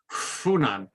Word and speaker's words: Hunan: Except you have to, if you're a real Hunan native, you can't pronounce it Hunan. You have to pronounce it Funan.